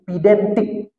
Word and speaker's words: pedantik: Bacanya itu pedantik.